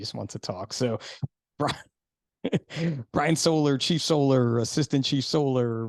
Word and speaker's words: Soller: So this solar. is so sad, right? Because normally in my whopping 29 episodes here, Yep. I'll be like, your last name, it's pronounced Solar, right? Sure.